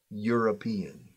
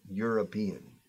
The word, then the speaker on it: European: Sin embargo, es sonido de U larga. U. European. European. European. In fact, European sounds exactly the same as tú eres un peón. You are a peon.